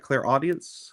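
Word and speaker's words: clairaudience: And then this clear audience. What? What? Am I saying it right? Clare audience.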